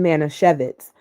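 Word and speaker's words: Manischewitz: I pronounce that. Alexa, stop. It wasn't Manisevitz.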